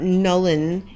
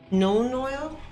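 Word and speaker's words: Nuln Oil: was also correct today it's not null n' it's known known oil is that right i say it right nolan oil i'll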